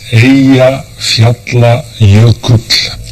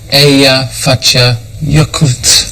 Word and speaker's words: Eyjafjallajökull: How do you pronounce its name? It's Eyjafjallajökull. Eyjafjallajökull.